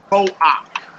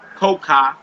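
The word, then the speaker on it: כֹּחַ: it is a minus, the combination is pronounced ak and not cha. For example, ko-ak, ko-ak. The next one says ru-ak, ru-ak. Notice it's not pronounced koka and it's not pronounced ruka. It's pronounced as an ak.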